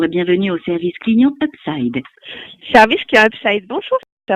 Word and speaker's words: Hubside: Ça se prononce Upside.